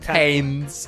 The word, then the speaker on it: Thames: Things came to a head last week when she threw me right into the Thames. Like T-E-M-S, yeah? Yeah, the Thames. The Thames. Like Thames. Like Temmie.